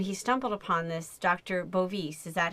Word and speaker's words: Bovis: bovis is that how you skir ectly say his